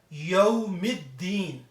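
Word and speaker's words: يوم الدين: When the fun letter is there, also lam is not pronounced there. Directly it will be read yawmiddin.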